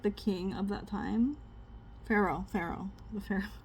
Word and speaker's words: Pharaoh: The Pharaoh. P H A R A O H. Pharaoh. You could just use an H. I mean an F.